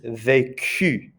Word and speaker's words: vécu: But this one is vécu, d'accord? It's a hard K sound. D'accord? So there's no accent on the C. Notice that also it's the crowned E sound, that A, vécu.